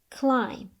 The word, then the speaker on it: climb: The B is silent, as in come, climb.